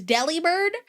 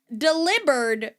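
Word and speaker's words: Delibird: I've been saying this Pokemon is Deli Bird and then I saw a Tik Tok where somebody was like, "Guys, I'm pretty sure it's actually pronounced delivered because it it's the delivery Pokemon.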